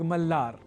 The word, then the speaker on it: मलार: यहां आप यह जान लीजिए कि यह मल्हार शब्द सर्वथा संस्कृत शब्द नहीं है। इसका मूल संस्कृत स्वरूप है मल्हार। छह रागों में दूसरे राग के रूप में प्रसिद्ध है राग मलार।